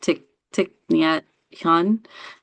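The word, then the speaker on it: Thich Nhat Hanh: And that's by um I can't I don't know if I if I mispronounce his name, but I think it's pronounced tick tick hun.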